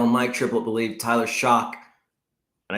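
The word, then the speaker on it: Shough: Both Underhill and Mike Triplett believe Tyler Shock, and I guess it's Shock now. I guess that's how we're pronouncing it.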